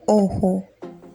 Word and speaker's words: ojo: The J is pronounced as H. El ojo.